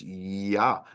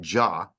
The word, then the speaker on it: Yah: It's Yah, not Jah.